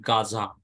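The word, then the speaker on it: עזה: example I will give you uh the word Gaza one city in Israel Gaza or over the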